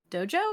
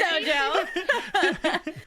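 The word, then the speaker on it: Doja: But I do appreciate I think it's pronounced Dojo or Dijo. Oh, Like it's DJ. Steve Harrington? No, you do not call him that. It is Dojo.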